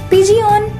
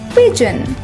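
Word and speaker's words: pigeon: पिजियन इसका गलत उच्चारण है। इसे सही से बोलने के लिए पहले बोलें पिज, फिर बोलें अन। दोनों को जोड़कर बोलें पिजन।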